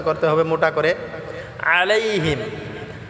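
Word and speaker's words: عليهم: আলাইহিম, আলাইহিম আইনটাকে গলায় চাপ দিয়ে হিমটা, হিম এটা গুণনা করা যাবে না, আলাইহিম।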